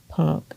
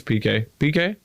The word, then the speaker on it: PK: Real estate guru punk. Is that how you say it? PK. Sorry, bud. I think it's PK.